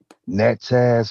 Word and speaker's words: Natchez: okay but there's a second city that i mispronounced the name what is that other city natchez mississippi yeah thank you now what i want